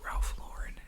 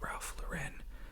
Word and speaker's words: Ralph Lauren: solve any debate here it is Ralph Lauren it is not Ralph luren I used to say Ralph Lauren because that's the correct way to say it in French pronunciation but Ralph Lauren the maker of Ralph